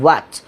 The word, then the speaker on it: what: কিন্তু বাকি যেগুলো আছে, যেমন প্রথমটা, এটার আমরা কখনোই হোয়াট বলবো না, এটা ভুল উচ্চারণ, হোয়াট না। আমরা অনেকে বলে থাকি হোয়াট ইজ ইউর নেম, আসলে হোয়াট না, এটা হচ্ছে আরবি ওয়াওয়ের মতো করে বাংলায় স্বরে অতে একটু ধাক্কা দিয়ে বলতে হয়, ইটস হোয়াট, হোয়াট।